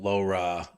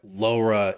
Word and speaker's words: LoRa: Can you tell us like first what like LoRa is, and am I saying it right? And then what is Yeah. reticulum? Sure. So it's actually you've ordered it perfectly. It makes sense to start with LoRa first.